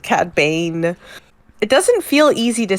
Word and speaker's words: Cad Bane: Bang, I was like, they said his name wrong, and I almost wrote it down because they didn't say Cad Bang. They said Cad Bane.